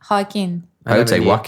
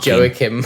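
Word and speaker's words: Joaquin: is she yeah yeah how do you say his name hin walk Oh I thought it was joim I think all of them are accurate depending on where you're from he was the padan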